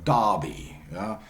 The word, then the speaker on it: Derby: would say Clark Clark the same is true by the way for Darby Darby the town in the Midlands okay Darby with horses or some of this Darby Americans would say Derby